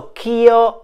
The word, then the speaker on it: ch'io: now Lasha means let Keo is the union of the words ke c h e and EO now in order to save one syllable and to let the words fit into the melody K and EO have been joined together the word k has lost its final vowel so Kyo is now a one syllable phrase which means that I